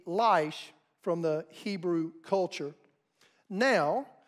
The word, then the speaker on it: Laish: Hebrew and that is the city of laish l-a-i-s-h in Hebrew is life we typically would say it leish but it would be lice from the Hebrew culture